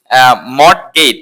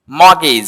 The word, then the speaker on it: mortgage: আচ্ছা, তারপরে আমরা বলি মড গেট। এটাকে বলি মড গেট, নট, এখানে টিটা সাইলেন্ট থাকবে, হচ্ছে কি মগেজ। হ্যাঁ, কি হবে? মগেজ, তো বন্ধ, কোনো কিছু বন্ধ রাখা, মগেজ, উচ্চারণটা মগেজ।